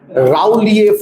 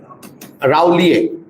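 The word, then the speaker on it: rouleaux: They remain like stacks and this stack-like structure is called as rowier formation. Rowier UX is silent rowier formation.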